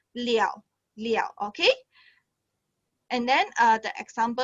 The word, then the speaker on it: 了: Okay, actually this one I not pronounce le already. We will pronounce liao.